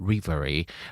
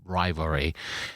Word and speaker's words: rivalry: he said the word revery. Then I realized that he was trying to say rivalry. Then I thought, ooh, like 10 years ago, I probably would have mentioned it. I would have said, you pronounce it wrong is rivalry.